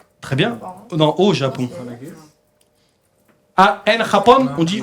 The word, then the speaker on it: Japon: Non, au Japon.